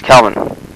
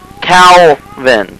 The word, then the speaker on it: Calvin: you I'm fine but you're going to have to say my name at least once correctly Calvin have you money right can you say Calvin are Calin Cal can you say